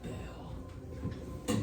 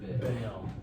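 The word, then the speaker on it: Bael: My name is Bale. Bill. B-A-E-L. Bale. Bail. It's So like- it's like bail. Yeah, like Like Bale. it's so dumb. Bagel. Bail. Yeah. Bale of hay.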